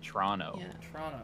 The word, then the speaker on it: Toronto: from the movie Argo you don't pronounce the second T you say Toronto yeah exactly you seen